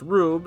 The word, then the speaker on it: R/B: Ultraman R/B, pronounced Rube, is the 2018 Ultraman series continuing the success of the new generation line of its collectible gimmicks based on past Ultraman.